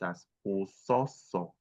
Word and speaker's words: aso: So that is a word for hate in a language and hatred or to hate is pronounced aso.